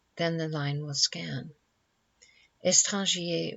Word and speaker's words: étranger: Étranger was probably pronounced as of 2 syllables only, but it is difficult to make this line scan.